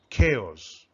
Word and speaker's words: chaos: earthquake chaos complete disorder or confusion it is pronounced as chaos children now we are going to read the